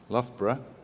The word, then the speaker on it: Loughborough: a little bit about where i'm from loughborough pronunciation loughborough very strange word i know um is in